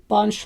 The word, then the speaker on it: Binche: This lace is called Binche lace, but it's spelled B-I-N-C-H-E.